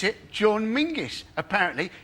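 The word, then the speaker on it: Menzies: got that's men's menes John menes but apparently men go let's go to John mingis they don't do it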